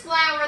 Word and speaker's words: flour: This is flour that you would cook with. Okay, it's white and powdery, but notice flour and flower, they sound the same, but they look different and they mean two different things.